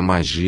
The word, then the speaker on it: mag: sacerdotes e magos, dizendo, que se pronuncia mag e se traduz por grande, se dedicaram largamente à